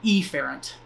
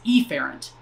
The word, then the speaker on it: efferent: efferent with an E I tend to over pronounce the the first letter of that so afferent and efferent that's not how it's actually pronounced but that I feel